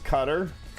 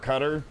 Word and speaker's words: Qatar: it from pronunciation is cutter at least that's how the British pronounce it um I don't know if I've ever heard somebody actually from Qatar cutter pronounce it so I